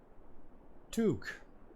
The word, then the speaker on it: toque: Pronounced toque. Like nuke with a T.